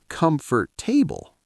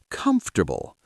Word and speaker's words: comfortable: Many people say comfort table. With 4 syllables? Yes, but that's wrong. So what's correct? Comfortable. 3 syllables. Comfortable. Exactly. We skip that middle vowel.